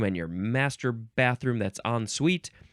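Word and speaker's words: en suite: the thing that you followed okay next is on Suite yep that's how you say it on suite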